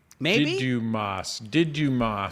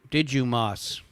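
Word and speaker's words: Δίδυμος: Didymos is how you say it in Greek, according to Captain Bree. Didymos.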